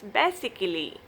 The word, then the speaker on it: basically: A is always silent if a words end in ICALLY. You don't pronounce A. A will be silent. You pronounce this word is basically. Basically. Listen up. Basically, it sounds like eagerly.